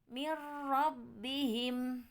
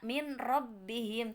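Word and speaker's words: مِن رَّبِّهِمْ: dan ro ataupun lamro contoh dari Idgham bilagunnah mirrobbihim gak dibaca mint robbihim tidak karena roh adalah bagian dari huruf idgham bila wuna maka dibacanya mirrobbihim yeah nah mudah-mudahan I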